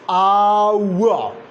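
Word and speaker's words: hour: Now this one is our. What? Our. Like in words. Our. Now over here, this H is not pronounced. It is silent.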